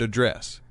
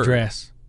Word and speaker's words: address: Address and address. And depending upon how you use the word. They're both address. Yes. Depending upon how you use the word, you tend to put the emphasis on a different syllable.